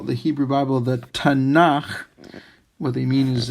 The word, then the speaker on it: Tanakh: And then finally, the K, a K when it's at the end of a word is really more of like a KH sound. That's why the H is there.